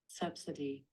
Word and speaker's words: subsidy: Subsidy. Subsidy. Друзья мои, это subsidy. Субсидия читается очень интересным образом. Это subsidy. Subsidy.